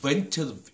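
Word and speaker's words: The Ventures: 자, 방금 제가 이제 그이 통기타로 한번 두드려 본 곡이 이제 벤처스 벤처스 이렇게 발음해야 되죠.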